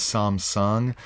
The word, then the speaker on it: Samsung: so some superhuman but the korean is is some sun some americans pronounce it samsung samsung he's in mocha